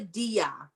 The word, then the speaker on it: diya: It's called a diya. So let me spell it.